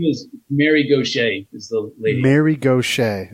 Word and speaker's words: Gauthier: Mary Gauthier, and she pronounces it, and it's sort of like it's a New Orleans Cajun style name, Gaucher.